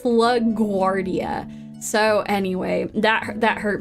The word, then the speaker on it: LaGuardia: hurts my brain I want to say it lag Guardia because like I keep thinking that's how it should be pronounced but it's LaGuardia so anyway that that hurt my brain a